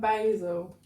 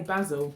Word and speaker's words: basil: cheese sandwich tomato and basil basil basil american side yeah but we say basil that's all spelt without